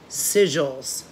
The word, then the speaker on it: sigil: Sigils.